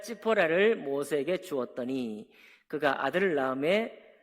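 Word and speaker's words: ציפורה: 모세가 아내가 히브리어로 찌포라입니다. 찌포라. 제가 찌포라는 그 발음으로 하겠어요.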